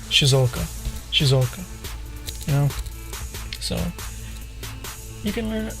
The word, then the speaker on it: Shizuoka: Like, some people would say Shizuoka is how you would say Shizuoka, but Japanese people don't say Shizuoka; they say Shizuoka.